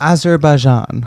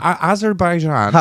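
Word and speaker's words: Azerbaijan: So in remind me how to how to pronounce this country in this beautiful language of English of ours. Azerbaian. Azerbaian.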